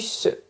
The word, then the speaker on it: ce: And as usual I do not pronounce the E of "ce".